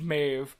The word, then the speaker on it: Maeve: And I'm just like, no, she's French. It's pronounced Maeve. Please.